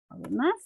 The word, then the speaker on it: además: Además, la tildo en la A, ve que el acento está en la última sílaba.